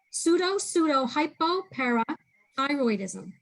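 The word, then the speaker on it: pseudohypoparathyroidism: Can you pronounce it once more? Pseudo hypoparathyroidism.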